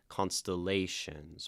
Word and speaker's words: constellations: I keep painting 1 2 3 4 constellations, but it's actually like up, up, down, up, right? Where like the third syllable's kind of stressed.